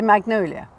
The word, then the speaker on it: magnolia: So we say magnolia, because we don't say soft G's like the French do, or sort of how they say them.